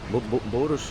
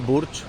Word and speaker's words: Burj: Bursz, bursz, nie burcz, nie dż, tylko bardziej takie żarnik, ja pierdzielę.